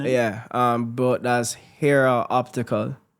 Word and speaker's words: Hera: name different brand name yeah um about that's Hera Optical hero Optical spell that h e r a optical h e